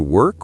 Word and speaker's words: work: People often confuse work and walk. Work. The sound is in the throat. Work. Like a bird chirping.